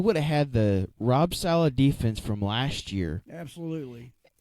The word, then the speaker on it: Saleh: Under, so is it Salia? How you pronounce his name? Oh, Rob Saleh. Saleh.